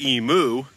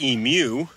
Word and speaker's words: emu: of that I say emu and not emu now the correct way to pronounce it is emu like the Pokemon Mew Mew too but since I am